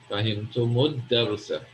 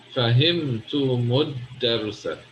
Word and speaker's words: فهمتم الدرس: In this case, the lam is silent, so you go straight to the dal. فهمتم الدرس. فهمتم الدرس.